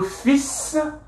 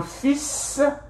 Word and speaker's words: fils: Okay, les parents, le père, la mère, les enfants, children, le fils, the S is pronounced, le fils, okay, la fille.